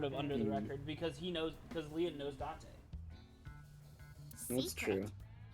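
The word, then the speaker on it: Lien: I think Date is doing this investigation too, but sort of under the record because Leon knows Date.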